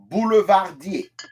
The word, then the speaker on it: boulevardier: Second one is boulevardier.